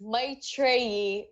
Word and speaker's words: Maitreyi: thank you for asking really appreciate that it's my trainee that's awesome I'm like my trainee I loved the show I got a chance